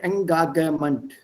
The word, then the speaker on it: Engagement: German G is G. So keep the word as it is. That's a normal practice in the world. If you are borrowing a word from another language, borrow the word, kein Problem, aber borrow the pronunciation also. Take the same pronunciation, the way it is pronounced in that language.